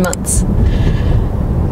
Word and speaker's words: months: One of the ways, you can simplify everything, and instead of saying clothes, you just say close. Just omitting the TH sound completely.